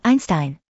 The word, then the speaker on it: Einstein: inconsistent first off Albert Einstein's surname is pronounced with a sh sound in his native Germany due to the second